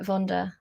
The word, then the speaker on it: Wanda: It's actually pronounced with a hard V, like Vonda.